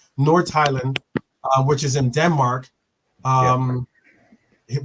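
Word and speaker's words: Nordsjælland: North Highland, because the J is pronounced with the H. North Highland, which is in Denmark.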